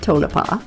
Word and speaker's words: Tonopah: a great trip and we figured out how to say the name of the town correctly tonapa tonapa met some really great